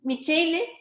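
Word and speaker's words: Minchilli: As Elizabeth, tell me how to pronounce her last name. Michele? Minkili.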